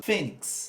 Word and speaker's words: fênix: é o acento agudo fênix duas sílabas e a ser o autor aqui ó fênix é o fe o fake a sílaba tônica tornando assim uma paroxítona por quê porque a